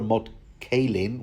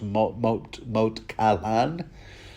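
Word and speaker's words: Moat Cailin: So ultimately the aim is to recapture Moat Catelyn, which I'm told is actually pronounced Moat Caillan, but there you go.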